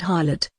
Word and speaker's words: harlot: Even that wonderful word harlot, rhymes with scarlet, means priestess of Hathor.